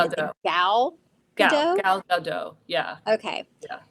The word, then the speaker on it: Gal Gadot: Gal Gadot. Yeah, Okay, yeah, Gal Gadot.